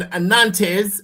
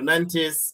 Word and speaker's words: Nantes: Look, Len took on Nantz or in French maybe the T is silent.